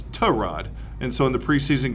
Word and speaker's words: Tyrod: whole time but yeah it's not Tyrod it's to rod and so in the preseason game they pronounced his name is Tehran in the in the